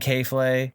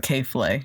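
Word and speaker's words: K.Flay: his music yeah and k-flay yeah uh like sure however you say her name k dot f-l-a-y it looks like k-flay yeah so um it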